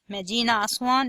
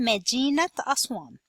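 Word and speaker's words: مدينة أسوان: You are not going to say Medina Aswan. Medina Aswan is incorrect pronunciation. You need to pronounce ta marbuta, T sound instead of A sound to become Medinat Aswan.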